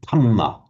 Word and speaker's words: Dharma: um I should say the phonetics of Thai doesn't have a the sound. That's why you'll hear the Thai saying tama instead of dma tama. And I was interested to